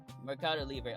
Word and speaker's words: Mercado Libre: Mercado Libre. Okay, so Mercado Libre 737-800 right there. It's a P2F, and yeah, dual pole BCF. I mean, Mercado Libre.